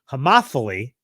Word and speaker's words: homophily: People tend to engage in what's called, and I Googled the pronunciation, homophily.